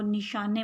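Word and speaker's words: نشانِ: اعراب لگایا گیا ہے۔ اس کی وجہ سے اس کا جو تلفظ ہے وہ نشانے بولا جا رہا ہے۔ ٹھیک ہے، زیر سے بڑی یہ کا ساؤنڈ نکلتا ہے یہاں پہ۔ نشان حیدر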